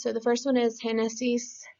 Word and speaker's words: Génesis: So the first one is Génesis. There should be an accent on the E, not on the I.